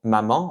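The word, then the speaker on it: 妈妈: Donc en fait, c'est comme si vous prononciez le mot ma sans ton. Donc vous voyez, dans le mot maman en chinois, on va prononcer ça comme mama.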